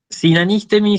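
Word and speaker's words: συνανίστημι: Sinanístemi significa eso, entonces vamos a hacer la separación en sílabas. ¿Sí? Sin, an, is, de, mi. ¿No? La vocal acentuada o la sílaba acentuada es esta, es la antepenúltima.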